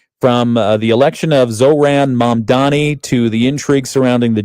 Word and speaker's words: Mamdani: Apparently, it should be pronounced Zoran Mamdani. Mamdani. Yeah, as most commonly mispronounced when people swap the M and the N in his name. So it's not Mamdani, it's Mamdani.